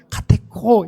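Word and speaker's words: κατέχω: 해야 되는 거예요 지키어 지키다 말을 여러분 헬로우 발음하면 카테코 이렇게 발음을 하는데이 카테코 아는 단어는 잘 보존하다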